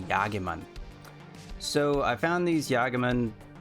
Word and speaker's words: Jagemann: I'm assuming this is kind of like a European name, and since I'm German, I'm going to pronounce it German, so just bear with me, and that's going to be Jagemann.